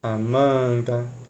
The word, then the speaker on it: Amanda: Íris, Amanda, Douglas. São palavras paroxítonas. Por quê? A sílaba cônica está na penúltima sílaba. Penúltima sílaba. Penúltima sílaba. Beleza.